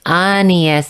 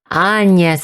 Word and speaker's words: Agnes: So it's Agnes in the Japanese version, Agnes in the correct pronunciation, and Agnes in the way that most people pronounce her. Gosh, they're all confusing.